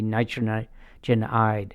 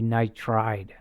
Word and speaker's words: nitride: so if he's like nitrogen isn't gonna be nitrogen eyed it'll be nitride okay uh you don't